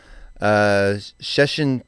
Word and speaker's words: Szczecin: That one I knew how to pronounce. Szczecin, Poland, Gloucester, or I guess that would be Gloucester, England, because it's spelled exactly the same.